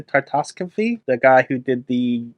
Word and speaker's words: Tartakovsky: Tartakovsky?